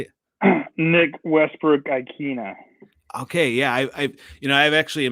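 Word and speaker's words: Westbrook-Ikhine: Nick Westbrook Ikina.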